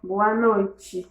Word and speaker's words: boa noite: T.A. prononcé comme ti. On va dire boa noite. Boa noite.